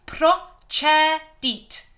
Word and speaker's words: procedit: Just answering Anne's question, how to pronounce procedit. Like that, please. Procedit. D-double-E-T, deet.